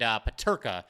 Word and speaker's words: Peterka: I was trying to pronounce the name of one of the opposing players, and Peterka is the way to say it.